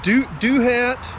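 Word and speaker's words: Douthat: the george washington national forest and that uh do hat um it's spelled d-o-u-t-h-a-t uh state uh park a beautiful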